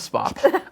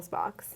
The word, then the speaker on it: Spock: He always puts an extra syllable in front of Spock. Spock. Almost like there's an E there.